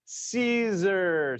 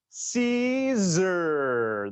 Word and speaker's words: Siser: my lesson number one is how to properly pronounce caesar so say with me caesar that's right so congratulations you are walking away